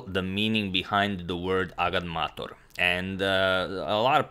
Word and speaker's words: agadmator: can't even count but for those of you who are still wondering it's actually pronounced agad mator and i'm now going